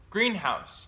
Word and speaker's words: greenhouse: And greenhouse. Greenhouse. Mm-hmm. Oh. Greenhouse. Greenhouse. Okay. So when you you put stress on the first syllable, yes, right?